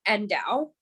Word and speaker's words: ndau: safe crypto so it's called endow and it's spelled ndau you can look it